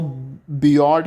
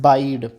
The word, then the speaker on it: bide: आपको इसको बियॉर्ड करके नहीं पढ़ना है. इसका pronunciation it's pronounce is बाइड.